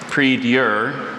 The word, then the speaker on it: prie-dieu: repeat the word and its alternate pronunciations, please. I have prie-dieu, prie-dieu, and prie-dieu.